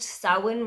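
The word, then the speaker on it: Samhain: it was a really great book they even pronounced sauwin right in the audiobook which I listened to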